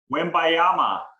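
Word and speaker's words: Wembanyama: little bit more about him you care to pronounce the last name win bayama pretty good yeah it's like we all can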